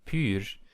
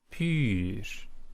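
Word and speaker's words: πῦρ: Just remind that the little het over epsilon there in pur, it means that the stress goes up and down. So pur, pur.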